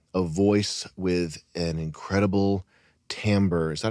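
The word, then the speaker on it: timbre: with a um a voice with an incredible tamber. Is that how you pronounce it, Chris? Yeah. An incredible tamber.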